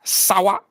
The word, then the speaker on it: San Juan: Like San Juan is Sawa.